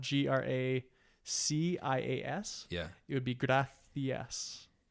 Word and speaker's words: gracias: So like to say the word like gracias in the gringo context, it would be, since it's spelled GRACIAS.